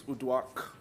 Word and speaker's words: Uduak: My name is Uduak. Good luck trying to pronounce my last name. You can pronounce my first name hopefully with U and a Duak, and I hope that helps.